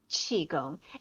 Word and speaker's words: Qigong: And then there's Qigong, which is pronounced Qigong.